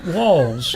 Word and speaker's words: Walz: Pronounced like Walz, even though it's spelled Walz.